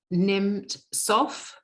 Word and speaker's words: Nemtsov: Boris Nemtsov, or Nimtsov, I think it's pronounced.